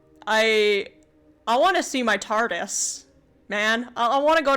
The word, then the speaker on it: TARDIS: But TARDIS, like time and relative dimension in space, TARDIS. Of course, I don't say it like with the emphasis on the dis, but...